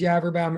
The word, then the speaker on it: Yaverbaum: come in uh uh my name is yaverbaum at rhymes with cadaver bound first of all one